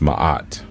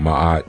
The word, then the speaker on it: Maat: be dealing with the cosmic archetype known as Maat Maat which is spelled m a a t ma sometimes you